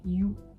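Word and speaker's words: ㅠ: chez nous de nouveau on va ajouter une bar et ça se dira you donc you comme en anglais you enfin pour les deux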